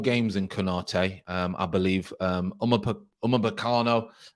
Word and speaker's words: Upamecano: Upamecano, I think you pronounce his name.